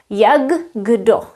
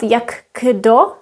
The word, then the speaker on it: jak kdo: Actually, we pronounce K as the sound G. Yagdo. Yagdo. If you say it quickly, Yagdo. So it's not Yago.